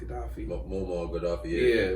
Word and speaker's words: Gaddafi: he got good uh was more gaddafi that's how he pronounced his name gaddafi yeah how he pronounced